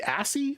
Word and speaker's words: ASCII: Do you say ASCII or ASCII?